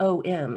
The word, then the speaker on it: Om: And, even in the Om, the Hindu tradition of Om is not OM, it's AUM, and whenever you put Hmm. it together, it comes out Om.